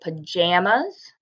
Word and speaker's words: pajamas: jammas so down here I say pajamas like the word Jam but other people in